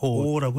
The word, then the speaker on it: awe: 방금 전에 말씀 주신 게 충격과 공포, shock and awe, AWE, 네, O라고 이제 발음하는데 최 평론가께서는요?